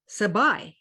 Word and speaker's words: Sabai: her name is stacy sabai which rhymes with rabbi she told me and so that's how i could remember how to pronounce her name she as i said